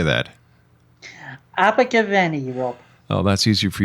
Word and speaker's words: Abergavenny: Abergavenny, Rob.